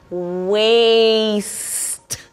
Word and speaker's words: waste: It's not waste, it's waste.